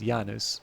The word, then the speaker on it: Janus: Latin classes informed me that apparently the correct pronunciation is yanus but I going to settle for Janice um but yeah so the January in fact